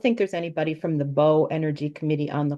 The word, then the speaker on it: Bow: We Bow, New pronounce it Hampshire.